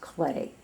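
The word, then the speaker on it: Klee: named CLE Paul CL only it's pronounced clay kle e e and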